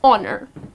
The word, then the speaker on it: honor: So again honor, the H here, which is at the beginning of the word, goes silent and the correct pronunciation is honor.